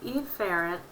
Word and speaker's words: efferent: sensory and then the efferent division which would be motor and I'm exaggerating the way you pronounce that a in the ER drill so that you can hear me it's afferent and efferent so you get the